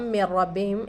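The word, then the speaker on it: مِّن رَّبِّهِمْ: मिर रब्बिहिम मीम से हम रा को मिलाकर पढ़ रहे हैं, क्योंकि रा के ऊपर तशदीद है। मिर रब्बिहिम रा के ऊपर तशदीद है तो राय मुशद्ददा भी कहेंगे हम इसको।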